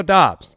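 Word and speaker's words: Doubs: us but if you go and listen romeo dobbs that's the name that's what he find he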